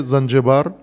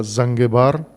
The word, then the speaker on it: زنجبار: منڈی تھا، بندرگاہ ہے زنجبار یا زنگبار، دونوں درست ہیں، ایک عربی تلفظ ہے ایک فارسی تلفظ ہے، زنگبار یا زنجبار بندرگاہ